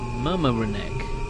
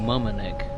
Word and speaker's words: Mamaroneck: Let's go to the next station stop, which is Mamaroneck. That's how you say it, or Mamaroneck, maybe.